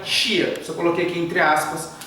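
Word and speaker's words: Hsia: Se escreve assim, H-S-I-A, porém na pronúncia sai Xia.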